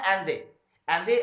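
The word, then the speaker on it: Allende: हुआ और उस चुनाव में सल्वाडोर अलेंडे, जिसका प्रोनाउंसिएशन है एंदे, आप उसको प्रोनाउंस करेंगे तो सल्वाडोर अलेंडे ने 1970 में चिली के प्रेसिडेंट बने।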